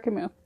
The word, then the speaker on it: Camus: But he's French, I think, so it's pronounced fancy Albert Camus.